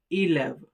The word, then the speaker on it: élève: For example, élève. The first E uses accent aigu or the acute accent sounding like A. The next one uses the grave accent and the sound is A. Élève.